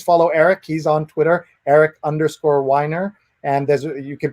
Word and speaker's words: Eric Weiner: And you can pronounce the name in many ways, but he says there's an easy way to remember how to pronounce his name. Somebody who whines a lot and likes to drink wine, I would say.